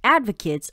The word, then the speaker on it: advocate: Shane 上周领养了一只小狗。再来我们看到单字 advocate，它是名词，指的是提倡者、拥护者。例如 Vera is an advocate for strict environmental laws. Vera 是严格的环境保护法的提倡者。或是 A group of women's right advocates organized a protest outside the city hall.